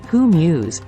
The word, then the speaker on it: hummus: Eastern Delight hummus hummus pronounced who Muse is a popular Middle